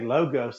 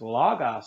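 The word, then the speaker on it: λόγος: like that though because someone corrected me when i'd say logos they said no it's logos and i was thankful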